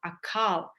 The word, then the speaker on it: Akaal: you can see that we are chanting now a call so how do you chant it is inhale and you pronounce a a like that so you chant the AAL immortality Mantra with a long a the end and you